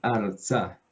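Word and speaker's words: ארצה: Porque la Sheva nos indica que hasta ahí va la sílaba. ¿Listo? Entonces, en este caso, solo por la Sheva, la Resh se agregó a la primera sílaba. ¿Listo? Y la segunda sílaba también tiene dos consonantes, la Tzadi con la Kametz y la Hei. Entonces tiene dos sílabas.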